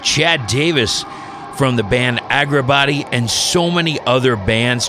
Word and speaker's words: Agrabatti: And the project that I'm talking about is Agrabatti. Did I pronounce that correct?